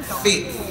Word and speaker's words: fill: Puta ka kaya nang sabi mo, can you feel the soft drink?